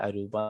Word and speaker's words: അരൂപ: അപ്പൊ രൂപ എന്നല്ല, അവിടെ അരൂപ എന്ന് ഉച്ചരിക്കണം. രൂപ എന്നാണ് നമുക്ക് ശ്ലോകത്തിലാവുമ്പോ അങ്ങനെ കാണുക. അതിന്റെ ഉച്ചാരണം അപ്പൊ അരൂപ എന്ന് നമ്മൾ ഉച്ചരിക്കണം.